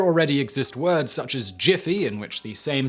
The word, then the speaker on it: GIF: at daily writing tips words in which the g is followed by an e i or y like giant gem or jim more often than not pronounced with a soft g while all others are pronounced with a hard g according to this rule then gif should be pronounced the same way steve wilheit originally intended as jiff however there are many